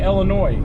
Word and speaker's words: Illinois: So how do you say Illinois? Do you say Illinois or do you say Illinois? It's Illinois. There's an S on the end of it, so I'm going to go ahead and say Illinois.